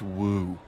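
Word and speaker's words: wewe: Woo? Who is Woo. using that word? It was just W-E-W-E. Let's call it a woo.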